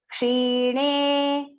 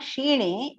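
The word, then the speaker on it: क्षीणे: Te tam bhuktva swargalokam vishalang kshine. You have to note when you recite this, kshi. It is not shine, it is kshine.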